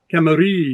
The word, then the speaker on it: Camarillo: Oh, he pronounced it phonetically where he's at Camarillo. Camarillo. You have to roll it out.